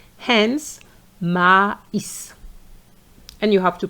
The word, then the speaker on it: maïs: So those two dots are there to tell you that you have to pronounce this letter, this I, separately. Hence maïs.